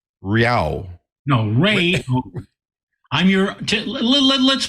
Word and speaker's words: Rao: By the way, you can pronounce it as if there was a Y between the A and the O. Rao. No, Ray. I'm your, let's put it another way. Rao.